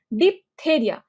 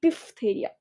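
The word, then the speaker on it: diphtheria: তাইলে ডিপথেরিয়া, তো আমরা উচ্চারণ প করি, কিন্তু দেখো এখান থেকে ডিফথেরিয়া, ডিফথেরিয়া ফ এর উচ্চারণ আসে। সো এই জায়গাটা একটু খেয়াল করবা যে this is not deep, this is ডিফ তা রিয়া বা দেরিয়া বা থেরিয়া, ডিফথেরিয়া, ঠিক আছে? এটা প না কিন্তু, DIPH।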